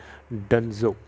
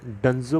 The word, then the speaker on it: Dunzo: एक कंपनी है जिसका नाम है डंजो। जी हाँ, डंजो पढ़िए या डुंजो पढ़िए, अलग अलग लोग अलग अलग तरीके से पढ़ सकते हैं, लेकिन इसकी जो स्पेलिंग है मैं आपको बताना चाहूँगा DUNZO, डंजो।